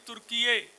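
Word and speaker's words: Türkiye: It is not Turkey, it is Turkiye. It is spelled also in a different way.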